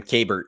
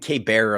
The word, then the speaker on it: Kabert: Yeah, it's Kabert, but thank you so much. I've been getting Kabert a lot for whatever reason. People want to pronounce it like it's French, which is cool too.